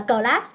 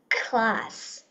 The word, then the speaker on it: class: không Rồi cái từ cái từ class mình không đọc là class mình đọc là class class thì để mình